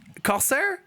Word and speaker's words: Corsair: will put it right here on the screen kosair okay okay so it is you're the pronunciation you are right so yeah so this